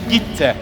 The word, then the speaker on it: Gitte: It's the right pronunciation, right? Viki and Gitte.